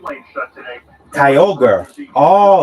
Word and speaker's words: Kyogre: Bridge you've got the right lane shut today Kyogre oh it's Kyogre I'm sorry thanks for uh clarifying Tina Kyogre